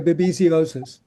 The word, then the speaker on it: babesiosis: Oh, I'm sorry, babesiosis.